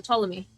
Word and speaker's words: Ptolemy: The P is silent. Okay, so Ptolemy.